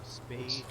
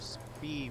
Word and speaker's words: Spee: Spee, or it's spelled like Spee, but I think it's pronounced Spay.